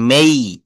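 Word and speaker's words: May: মাস April মে না এটা উচ্চারণ হবে মেই।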